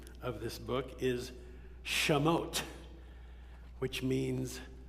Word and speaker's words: Shemot: The Hebrew name of this book is Shemot, which means names.